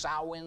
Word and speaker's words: Samhain: it is actually called it looks like Samhain but it's pronounced sow in the actual word for